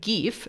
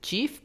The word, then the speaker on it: GIF: Now, the word GIF, some people pronounce it GIF, but it's actually GIF, and GIF, G-I-F, stands for Graphic Interchange Format.